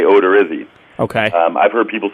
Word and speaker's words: Odorizzi: I'd say Odorizzi. Okay. I've heard people say Odorizzi, but I've pronounced it Odorizzi in front of his mom